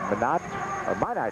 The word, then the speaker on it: Minot: And his birthplace is Minot, North Dakota. That's how you pronounce it.